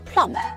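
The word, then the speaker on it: plumber: 누수가 될 때 고치는 배관공 플러머 비바람이 나지 않아요 플라고 발음하면 진짜 여러분 진짜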